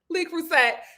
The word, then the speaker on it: Le Creuset: was unpack all of my Le Creuset or La Creuset. La Creuset. Shout out to my French subscribers who told me how to pronounce it. La Creuset. Le Creuset.